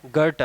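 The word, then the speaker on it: Goethe: लेकिन आपको पता है, उनका नाम वास्तव में गोएथे नहीं है, भले ही इसे इसी तरह लिखा गया हो, लेकिन सही उच्चारण गुर-ता है।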